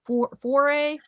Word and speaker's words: foray: Apparently I don't know how to pronounce it. Foray.